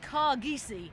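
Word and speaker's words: Kargese: for Willie Mullins uh headed by car geesi is how I'm being told that I should be pronounced this caresi caresi who told you how to pronounce that uh that was Peter Maloney Peter because apparently the the the French breeders have been on to say that that is how you say it so yeah but we're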